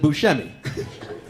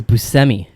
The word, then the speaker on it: Buscemi: even though everyone else in the entire world pronounces it bushemy yeah so it's busemi um looking oh him and pulp picture we